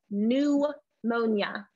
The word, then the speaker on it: pneumonia: flu okay very cool pneumonia who knows what pneumonia is and please pay attention to how i pronounce this we do not say the p we call it new mona all right yes pneumonia